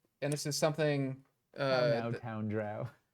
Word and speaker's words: drow: Drow rhymes with cow. Rhymes with cow or row. Right. People didn't know whether it was pronounced drow or dro.